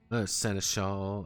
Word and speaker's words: seneschal: A rogue union general, or a mad czarist, or a desperate seneschal, a desperate czarist seneschal. Seneschal. That's a fucking Seneschal. Ugh. Always want to overpronounce the A in it.